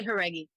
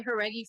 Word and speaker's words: Jauregui: Well, it's it's how but it honestly it's you can just say Herggi because I say Herggi for America in American life anyway.